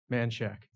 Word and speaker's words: Manchac: Do we have a phonetic pronunciation? Man shack. Manchac, yeah. Manchac. Oh, see, they went with the SH. That's interesting. It should be. I would have gone with a CH, but yeah.